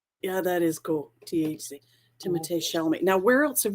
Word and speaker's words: Timothée: And Timothée Chalamet is the lead in Dune, and his name has an accent in it, and it actually is pronounced Timothée.